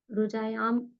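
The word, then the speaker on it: रुजायाम्: यांच या न नहीं आएगा, म प्रोनाउंसिएशन होगा, न प्रोनाउंसिएशन नहीं होगा। देखिए भावार्थ, रुजायाम म, मतलब उसको वैसे लिखेंगे तो रुजायाम म हलंत वाला वो आएगा, ठीक है। न वाला प्रोनाउंसिएशन नहीं आएगा।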